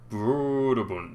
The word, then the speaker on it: Brøderbund: However, I assume that's supposed to be pronounced in a silly accent because it's got a slash through the O. Broderbund, not... except it's probably just Broderbund because it's an American company and they didn't mean me to pronounce it that way.